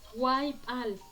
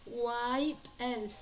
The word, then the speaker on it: waipal: Waipal, Waipal. Algunos lo pronuncian Waipel, Waipel. ¿De acuerdo?